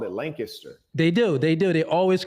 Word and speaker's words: Lancaster: You didn't pronounce that wrong because there's another town with the same spelling in California, and they call it Lancaster.